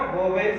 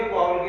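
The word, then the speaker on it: vowel: वाउल को pronounce करने की बड़ी प्रॉब्लम्स होती है मोस्टली स्टूडेंट्स के साथ, तो इसको हम ना वोवेल से वोवेल प्रोनाउंस नहीं करते, वा उल प्रोनाउंस करते हैं।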